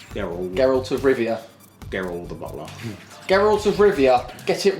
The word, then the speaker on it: Geralt: beast he's a beast and I wanted more garel am I saying it right Geralt there he's garel he Geralt Gerald gerald Geralt Geralt of Rivia Daryl the Geralt of Rivia get it right I reviewed Geralt